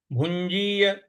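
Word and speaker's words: भुञ्जीय: प्रकार से बोलेंगे भंजीय भुंजीय ञ है भंजीय इस प्रकार से बोलेंगे भ पर छोटा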